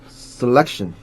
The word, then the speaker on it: selection: Selection. Selection. 이 발음 나죠? Selection. 애가 아니라 selection. Okay.